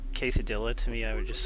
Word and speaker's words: quesadilla: Yeah, Icky, you've got the pronunciation mostly right. I mean, there's accents that say it exactly like that. Mostly in Spanish, it's how Will Fryer typed it, quesadilla. Yeah, it's quesadilla, and...